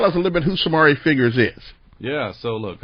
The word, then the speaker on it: Shomari: Shomari, is that how you pronounce it? Shomari. Like Somalia and stuff like that, you know.